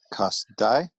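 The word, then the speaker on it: כשדי: Kasdai, and two syllables, both closed.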